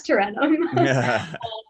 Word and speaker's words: Tarentum: which when I first saw the name, I definitely said it wrong. And my sister was like, you've been away a while. That's Tarentum.